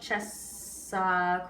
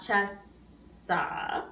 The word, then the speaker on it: cessa: sing cessa, so not chessa, right? It's very tempting to do, but you want to put the double S on that second note of it.